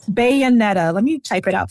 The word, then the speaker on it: Bayonetta: spell it for me bed like a bayonet Bayonetta let me type it